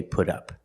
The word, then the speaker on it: put up: Again, the T in put changes to a fast D.